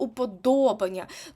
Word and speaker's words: уподобання: придумали є один виняток а саме слово уподобання тут наголос падає на третій склад тобто пам'ятаємо рахуємо по голосних у перше склад о другий склад і друге О це в нас третій склад це буде нібито слово